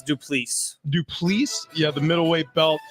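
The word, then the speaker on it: Du Plessis: Am I pronouncing that correct? It's Duplessis.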